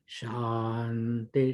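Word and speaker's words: शान्ति: So if it is Shukla Yajurveda, one branch of the Yajurveda, it must be chanted as Om Shanti Shanti Shanti. The emphasis is on the first Sha.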